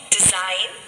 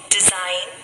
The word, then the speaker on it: design: sign so here the sound of letter g is silent let us read some more words design design align align now let us read some